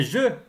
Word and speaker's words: jeux: Les jeux. Le pluriel. Un jeu. Des jeux. Le X du pluriel ne se prononce pas.